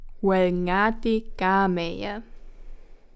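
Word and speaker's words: Oel ngati kameie: Or how Karyu says it, wrong pronunciation incoming. Welngati gameya. But correct pronunciation would be Welngati gameya.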